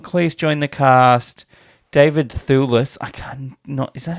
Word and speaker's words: Thewlis: David Thewlis, is that how you say his name?